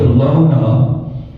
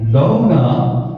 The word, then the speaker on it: Löhne: the German language, that there's a difference between O and Ö. Ö is a different letter. It's got 2 dots over it. You pronounce it differently, and it makes all the difference.